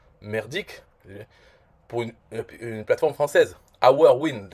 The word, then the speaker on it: OurWin: OurWin, rien que pour le prononcer bien, il faut être au courant, parce que en français, je dirais Ourvin, voilà.